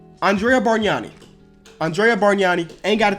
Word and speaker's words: Bargnani: Andrea Bargnani. I was right. The G in his name you do not pronounce.